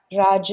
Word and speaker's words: Raja: is something called the Raja yoga meditation is something that I tend to teach during how do you say it or that Raja yoga it is r-a-j-a yoga meditation so that specific one